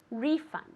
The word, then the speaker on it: refund: this very good refund refund okay with the accent at the beginning refund very good let's see